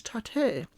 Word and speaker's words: Tate: I am not a gatekeeper of that word, but I'm sure someone's going to say the proper pronunciation is Tate. It's like, it's like your pate.